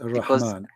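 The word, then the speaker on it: الرحمن: like with the Ar-Rahman, this is like with the alif, then you say it like long, you know. Right, Ar-Rahman.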